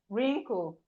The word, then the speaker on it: wrinkle: The W in wrinkle is silent. So we have wrinkle.